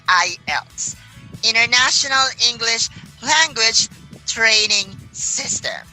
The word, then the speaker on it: IELTS: an addition for this I heard a lot of people saying eyelets all right so everybody uh the correct pronouncing of that words is not isets it's I Els International English language training